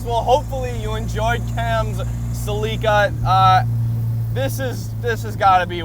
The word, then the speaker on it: Celica: And yes, I'm going to continue saying Celica because that's how we say it in Canada here, and that is what the Japanese and Toyota, how they pronounced it in their ads in the 80s.